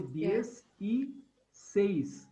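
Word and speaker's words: dieciséis: So DS, E, says. Says. Now say that fast. It will become DSE says, DSE says, DSE says.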